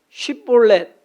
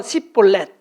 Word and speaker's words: 쉽볼렛: 두 번째로는 쉽볼렛, 뭐 좀 그래요 발음이. 예. 근데 이 발음도 못해가지고서 쉽볼렛, 쉽게 말하면 쌀 발음이 안 돼서 살 하는 거예요.